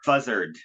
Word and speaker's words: Fuzzrd: This is called Fuzzard. Fuzzard? It's like buzzard, but it's fuzzard. I like it. It's good. But it's sort of like Leonard Skinner, where it's spelled Fuzzrd.